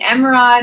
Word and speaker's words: Emeraude: of stuck with me Emma rod is also the French pronunciation of emerald which is my birthstone